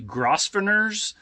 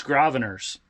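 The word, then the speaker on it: Grosvenor: those was um to groer Arch I asked I specifically asked a local and they said the S is silent it looks like it would be grossers but it's gravers at least according to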